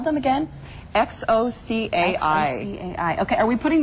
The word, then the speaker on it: Xocai: They're called Xocai, and it's spelled X-O-C-A-I.